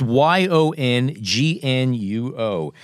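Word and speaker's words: Yongnuo: Yeah, it's Yong Nuo.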